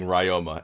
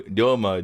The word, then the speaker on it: Ryoma: Okay, the biggest one though is TJ saying Ryoma and Ryu. I'm like, no, Ryoma, Ryu. If you can't say the Japanese way, then say Ryoma or Ryu.